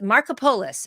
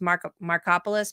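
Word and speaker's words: Markopolos: was on the case he Harry Mark it's Marco polus it looks like it would be spelled uh pronounced markopolis but it's m-a-r-k-o-p-o-l-o-s so this guy was the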